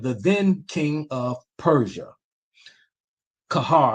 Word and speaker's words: Qajar: Kahar, I think it's pronounced Kahar.